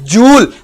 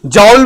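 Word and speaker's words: joule: ऑफ the work is जूल। जॉल भी बोलते हो, जूल भी बोलते हो, प्रोनाउंसिएशन में किसी किस्म का कोई मसला नहीं मेरे भाई, जिस मर्जी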